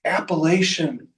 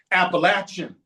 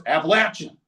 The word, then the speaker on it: Appalachian: It's Appalachin Mountains. I throw an apple at you or you got an itch. You got to scratching. It's Appalachin Mountains. I said, "Okay, apple." Close. Appalachin.